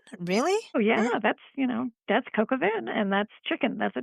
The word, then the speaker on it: coq au vin: how to pronounce that. Coca Vin? Really? Oh, yeah. Yeah. That's coq au vin, and that's chicken.